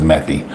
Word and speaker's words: methi: I also add fenugreek seed powder, or methi powder, or however it's pronounced in Indian, but I believe it's methi.